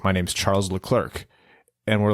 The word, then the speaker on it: Leclerc: He's from Monaco, and his name is Charles Leclerc with a C at the end. And that's just how you say it. He's he's from Monaco. It's a French-ish pronunciation.